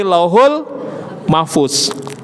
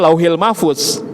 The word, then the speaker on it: Lauhul Mahfuz: dan firman-Nya diletakkan di Lauhul Mahfuz. Ya. Kalau enak sih nyebutnya biasanya saya Lauhil Mahfuz. Tapi kalau kita bahasa harusnya bacanya memang Lauhul. Tapi kebiasaan kita nyebutnya Lauhil Mahfuz.